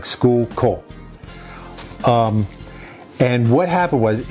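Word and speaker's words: Schuylkill: It's pronounced skookal like skookal.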